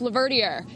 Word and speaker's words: Laverdier: Everyone out there, it's pronounced Laverdier, just so you know.